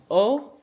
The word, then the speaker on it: Å: And you pronounce it O? Yes.